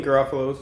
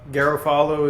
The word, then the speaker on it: Garofalo: just to make sure oh Garofalo is fine uh Garofalo is the one I heard a lot growing up um it's an